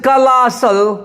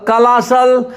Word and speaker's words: colossal: कलासल देखिए COLOSSAL कलासल। देखिए ई जब उल्टा लिखा हुआ रहता है तो यह होता है, एल के ऊपर लकीर है, इसको एल पे जोर देना होगा। ए के आगे जो बिंदी है उसका मतलब आ हो गया। एस के आगे देखिए ई उल्टा लिखा हुआ रहता है तो क्या पढ़ेंगे कलासल।